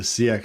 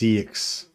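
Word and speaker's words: seax: But the Siax spelling is pronounced Siax. No, it's not Siax, just Cx.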